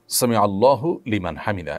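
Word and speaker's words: سمع الله لمن حمده: ফেলেছেন দেখুন সামি আল্লাহু সামি আল্লাহু লিমান হামিদা এটি হলো শব্দের সঠিক উচ্চারণ সামি আল্লাহু লিমান হামিদা সামি আল্লাহু লিমান হামিদা এটা সঠিক উচ্চারণ নয় থামতে হবে সেখানেই যেখানে মানুষ ওয়াকফ করবে ওয়াকফ না করলে সেখানে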